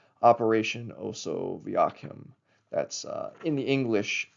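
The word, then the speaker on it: Osoaviakhim: Um the Soviets also um had a similar program called Operation Oso Vakim. That's uh in the English Latin alphabet. It's spelled um O S O A V I A K H I M.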